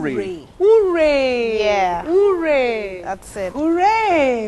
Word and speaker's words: Ure: How do you pronounce Ure. it? Ure.